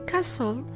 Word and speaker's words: castle: In castle, wrestle, and whistle, T is silent after the fricative S and before LE.